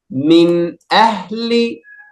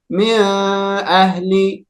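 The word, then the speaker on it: من أهل: We should say the noon with sukoon clearly without prolonged ghunna. So we have to say it like that. Min ahli. Min ahli. Yes, excellent. So we shouldn't say it with prolonged ghunna, like min ahli. No, no, no, no, no.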